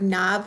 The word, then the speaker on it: knob: When you have the letter K, it's silent when followed by N, such as in the word knob. In the word knob, we hear the N, but we do not hear the K sound. The K is silent.